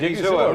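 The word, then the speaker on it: Odighizuwa: Osa Odigizua, did I pronounce that right? Odigizua, right.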